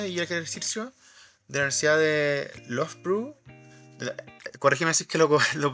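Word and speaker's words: Loughborough: de la Universidad de Lovepw. Corrígeme si es que lo pronuncié bien o no. Lo inglés lo pronuncian así como love pro, pero sí, love está bien.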